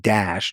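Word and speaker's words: Daesh: it in in Arabic the acronym is pronounced dash d aes uh eh.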